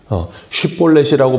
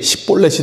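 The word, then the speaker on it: 쉽볼렛: 쉿볼렛이라고 발음을 하라는데 그게 십볼렛이 돼버리면 이제 에브라임 사람에게 판명이 나는 거예요.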